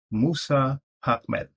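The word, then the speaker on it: Moussa Ahmed: And the next is Moussa and space, and then Ahmed. So I pronounce that as Musa Ahmed.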